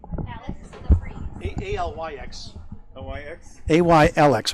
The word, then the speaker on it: Alyx: Alex LaPreeze.